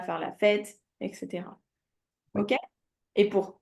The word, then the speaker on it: fête: on dit Fête. après. Tu vois ou pas? Oui, oui, oui. Donc, pour le mot fête, le E, il est prononcé un peu plus longuement que les autres E de prononciation pour Et, l'accent grave.